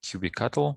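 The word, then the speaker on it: kubectl: some people pronounce it qb cattle some people pronounce it cube ctl i pronounce it as cube ctl because i don't see how this can be read as cattle anyways yeah so i'll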